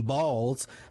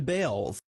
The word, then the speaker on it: Baals: After all, the family did change the pronunciation of their last name from Baals to Bales.